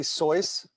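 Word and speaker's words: Seuss: are you going to be that guy who pronounces it correctly soyuz yeah um and then we got uh you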